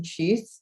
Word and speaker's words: tschüss: Yeah, it's tschüss with an U with an umlaut.